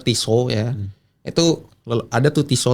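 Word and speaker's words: Tissot: Nah, LCKle ini dulu kalau kalian tahu sampai sekarang tuh TSOT tuh brand TSOT atau orang kalau pronouncnya kalian mau benar Tiso ya.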